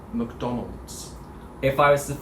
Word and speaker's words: McDonald's: sounds like him england when we say the first syllable the the uh sound is what we call a schwa so it's like a de-emphasized uh sound so you emphasize the second syllable which is don to mcdonald's mcdonald's kind of sounds like you're almost not saying the the vowel sound yeah whereas like when